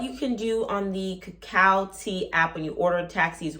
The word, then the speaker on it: Kakao T: the cacao tea cow I always want to say cargo but it's pronounced cacao cacao tea uh cacao tea is